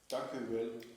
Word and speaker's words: dank u wel: dank u wel. Dank u. Dank u wel. So not Dankeschön. No, ik dank, not that Dankeschön, that's German. In Holland they say dank u wel. dank u wel.